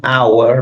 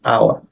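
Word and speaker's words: hour: human and then an our but over with h but the H is not pronounced so it's our but funny thing is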